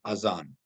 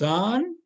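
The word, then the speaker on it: أذان: then let's learn today what's that avon is it as azan or it is azan see this is a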